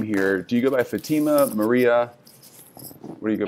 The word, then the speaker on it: Fatima: Fatima or Fatima? Say it the right way. I want to make sure I pronounce it right.